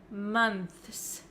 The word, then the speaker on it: months: difficult to pronounce right we can pronounce this word as months months if you want to say the th sound clearly plus the S and that is really